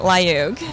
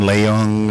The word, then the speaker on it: Layug: That is right, Layug. No N, Layung, or Layug, or any of the other ways people pronounce it?